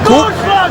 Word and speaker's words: Co: Il préfère qu'on l'appelle le roi parce que son prénom c'est co. Première syllabe de cunning en néerlandais qui veut dire le roi.